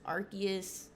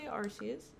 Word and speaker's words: Arceus: on who you are some people say arceus in fact i actually used to say arceus but now i say arcus because people were saying i was saying it wrong like my whole life so you know how